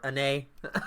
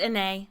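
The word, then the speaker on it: Anet: In the lands of Annette, or Annay. Is it Annay? I guess it would be, because the T is silent in French.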